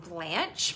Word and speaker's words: Blanche: my name is blanche pronounced like the golden girl and um i am